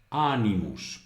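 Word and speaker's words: animos: cer es un monosílabo ánimos porque es ánimos porque la segunda la sílaba que sería llana es decir la penúltima sílaba es corta por lo tanto se transporta el acento en una palabra que tenga más de dos sílabas a la sílaba anterior por lo tanto es ánimos ánimos vale luego muta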